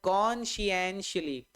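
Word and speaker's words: conscientiously: इसका right pronunciation की अगर मैं बात करूं तो इसका राइट प्रोनाउंसिएशन यही है, ये बोला जाएगा सर कॉन्शियंशली, कॉन्शियंशली, कॉन्शियंशली, कॉन्शियंशली, है ना।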